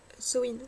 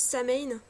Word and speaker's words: Samhain: Je sais que beaucoup prononcent Samain, voire Samin, pour le sabbat du... eh ben, je m'étouffe. Du 31 octobre. Bon, je l'ai appris en gaélique irlandais au départ, et en gaélique irlandaise, ça se prononce Samhain.